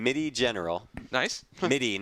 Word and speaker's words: MIDI: MIDI, not Mini. MIDI, like the MIDI. MIDI file.